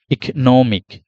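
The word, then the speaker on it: economic: ইক নোমিক ইক নোমিক নো কতটা তারপরে মিক ইক নোমিক ইক নোমিক তাহলে ইকনোমিক এই হয়ে গেল ইকনোমিক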